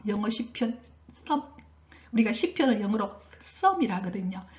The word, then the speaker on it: Psalm: 영어 시편 우리가 시편을 영어로 썸이라 하거든요. 즉 여러분 보면 PSALM 돼 있죠. 근데 P 발음은 안 합니다.